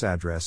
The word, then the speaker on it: address: Phonetic Alphabet to pronounce address have in mind that the size of the syllable indicates where the accent or stress is in this case the accent is in the second syllable corresponding to dress add low are other